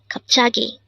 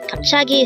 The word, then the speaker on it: 갑자기: kagi kagi what does it mean today on one